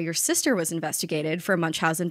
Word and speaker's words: Munchausen: sister was investigated for Munch Housen by proxy how's my pronunciation uh it's perfect spot on it's perfect thank you